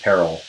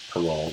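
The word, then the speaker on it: parol evidence: is and something that sometimes pronounced peril but I say parole it's like the only meaning but in either case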